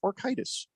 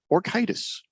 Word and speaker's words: orchitis: Traumatic orchitis. Traumatic orchitis. Screaming Eagle, also testicles. A doctor, says, Jeffrey, you pronounced it correctly.